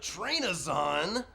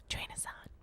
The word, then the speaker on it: Trainazon: industries and businesses, Trainazon. Welcome to the show. Hi, thanks. You said my last name wrong. It's Trainazon. Trainazon. Oh, wow, that was really deep and grovelly.